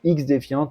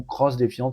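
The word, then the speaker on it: XDefiant: à énormément de monde, c'est X-Defiant ou Cross-Defiant, ça dépend comment vous voulez le prononcer.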